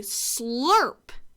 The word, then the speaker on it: slurp: So if I wanted this to say slurp instead, I would have to add a U to this word. S-L-U-R-P. Let's tap it out. S-L-U-R-P. And that sound is spelled U-R. Slurp.